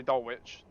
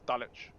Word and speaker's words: Dulwich: we're going to North dulwich you don't pronounce a w in dulwich which is don't say doll witch it's dulwich and East Dallas is